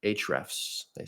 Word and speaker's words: Ahrefs: Then you also get the SEM Raj, which is a competitor to Ahrefs or Hrefs. They pronounce it differently, where you'll be able to look at rich keywords, topics, and things.